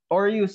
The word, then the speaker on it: Aureus: How do you pronounce this? Aureus? Aureus, sir.